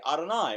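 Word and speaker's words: Adonai: Jewish people are uncomfortable speaking the actual correct pronunciation for what the church knows as Jehovah so whenever it appears we simply say ah deny which means Lord scholars will refer to this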